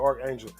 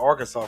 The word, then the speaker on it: Archangel: man archangel says um now i've been reading your name wrong angel so you are angel archangel um i don't know where the hell i got arkansas from uh that would have